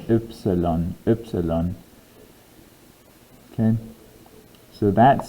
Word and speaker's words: Ypsilon: Not quite the same as the English letter Y. So this is pronounced Ypsilon. Ypsilon. And the Y sound here is a little weird as well. So it's Ypsilon.